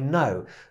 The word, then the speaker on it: know: od tego żeby poprawić bo to jest k nieme w angielskim czasem tak jest że są takie różne literki w niektórych wyrazach które właśnie są niem nie wymawiane i to mówimy jako I know dokładnie tak samo jak słowo no po angielsku to no brzmi identycznie jak no i to I know